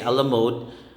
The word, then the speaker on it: a la mode: say a la carte next is a la mode salad letter e we say a la mode it's the additional ice